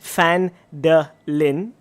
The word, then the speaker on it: Phandalin: The times were good, and the nearby human town of Phandalin, pronounced Phandalin, by the way, it's in like brackets, it prospered as well.